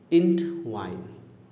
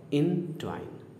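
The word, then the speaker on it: entwine: इंटवाइन, अभी जो पहला हमने बोला था प्रोनाउंसिएशन गलत बोला था, दूसरा जो बोला था सही बोला था, ध्यान से सुनिएगा। इंटवाइन, ठीक है। इंट मैंने पहले बोल दिया और वाइन बोल रहा हूँ, गलत है। कुछ लोग यहाँ तक पढ़ते हैं, ENT को एक साथ पढ़ देते हैं और WINE को अलग से पढ़ते हैं। This is a wrong approach to it's pronunciation. क्या होगा? इनट्वाइन या एनट्वाइन।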